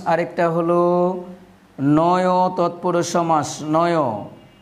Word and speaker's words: নঞ্: হলো নয় তৎপুরুষ সমাস নয় এটাকে অনেকে নঞ্চু বলে থাকে এটা আসলে নঞ্চু না এর উত্তর হবে এর উচ্চারণ হবে নয় আমরা যখন ব্যঞ্জন বর্ণ